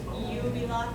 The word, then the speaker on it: jubilate: in lowercase j, but it doesn't mean j like we think in English. It's the same as if in English you were saying. That's how you do that. So, and in fact, this word, not a j, jubilate. Okay, yeah, it's like a yeah.